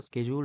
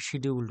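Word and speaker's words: schedule: রকমভাবে তিন নম্বরে আমরা দেখছি কোন শিডিউলড একচুয়ালি উচ্চারণটা স্কেজুল হওয়া উচিত। আমরা আমাদের বাঙালি জিভে এটাকে সিডিউলড বলি।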